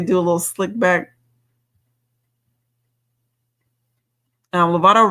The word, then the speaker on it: Lovato: Lovato rhymes with avocado, and avocados are from Mexico.